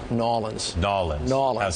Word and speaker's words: New Orleans: New Orleans. It's just real easy, lazy. New Orleans. Yeah, not New Orleans, not New Orleans, just New Orleans.